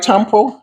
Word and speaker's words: tampo: Am I saying it right, tampo? Yes.